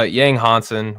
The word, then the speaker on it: Yang Hansen: Uh Yang Hansen. We found out that that's how we've been supposed to been pronouncing his name the entire time.